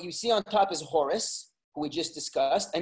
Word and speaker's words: Horus: Or actually, Horus is the Greek pronunciation because they add the us at the end. It's really Chor, which is, you know, Americans, we speak English, you say Hor, but it's really Chor.